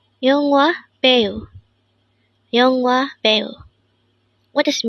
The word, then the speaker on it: 배우: 배우, 배우. This is pronounced as a two-syllable word. The first syllable is be, second syllable is u.